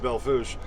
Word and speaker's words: Belle Fourche: Yeah, when I was going through Belle Fourche, Fourche, it's spelled it's pronounced Belle Fourche, South Dakota.